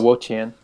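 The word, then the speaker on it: Wo-Chien: Oh, Wo Qian.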